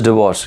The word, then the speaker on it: divorce: rishabh how to pronounce it is not diverse it is divorce yes is it clear